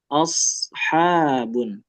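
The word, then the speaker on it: أَصْحَابٌ: kasih tahu dari sekarang shad itu dia tidak persis sama seperti sin bukan juga seperti syin yang menyebar. Dia ada beberapa cara pelafalan yang berbeda ya. Dia agak membulat tapi bibirnya enggak terlalu banyak gerak.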